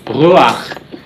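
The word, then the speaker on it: רוּחַ: And it should be pronounced before the consonant rather than after. Normally we pronounce the vowel after the consonant, but in this case you pronounce it before. And that's because the furtive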